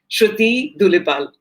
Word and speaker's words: Sruthi Dulipala: So I'd like to invite Sruthi Dulipala. I hope I have pronounced your name properly.